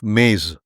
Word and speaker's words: mes: Remarkably, Sumerian texts describe this exact phenomena through the concept of maze, which is spelled MES, divine decrees that predetermine the pattern of existence.